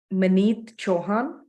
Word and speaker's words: Maneet Chauhan: So how do you pronounce your name? Maneet Chauhan.